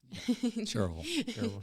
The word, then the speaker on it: Cherryville: Cherryville, yeah.